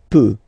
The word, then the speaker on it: peut: Then il, elle, peut. So you will put T at the end, you don't pronounce it.